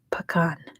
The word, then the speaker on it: Pagan: It's spelled either way because it's a soft P, so it sounds like a B, so it's either way. Either spelling is correct.